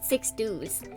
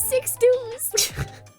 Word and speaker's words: Sixdouze: I want to pronounce it Sixdouze.